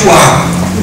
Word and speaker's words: Puá: Primeiro ele foi pai, ou melhor, Dodô, o avô, foi pai de Puá. Puá em hebraico, essa pronúncia que em português não seja das melhores, parece até choro de criança, de recém-nascido, Puá.